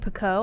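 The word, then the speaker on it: Picoult: before we rap real fast i forgot jodie pico i think that's how you pronounce her name it's p-i-c-o-u-l-t she has really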